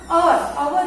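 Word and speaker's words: hour: तो यहाँ पर देखो कि वो अनकॉन्शियस है फॉर आवर यहाँ पर एच साइलेंट है तो हमें क्या लगाना है, एन।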